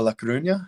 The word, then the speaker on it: La Coruña: And then at what was it, Deportivo La Coruña, I believe, a couple of there. And then well done. Yeah, nice good pronunciation.